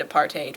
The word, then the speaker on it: apartheid: actually speak the language so I I recommend a part8 but who am I to say maybe I'll